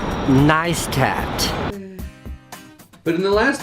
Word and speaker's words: Neistat: most recently and most very publicly Casey it's pronounced neistat but in the last 3 weeks I have